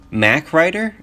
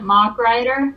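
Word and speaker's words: Mach Rider: I always pronounced it Mock Rider. Mock, yeah, that makes a lot of sense. Shit, because it's about cars. It's about cars.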